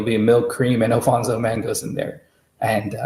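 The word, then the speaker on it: Alphonso: think it was interesting you sent us the Alfonso mango I pronounced correctly that is yes yes and you've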